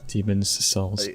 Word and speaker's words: Demon's Souls: demons souls had where demons assaults yeah that's that's how you say it that's how you say it because that's where the apostrophe is um yeah in demon's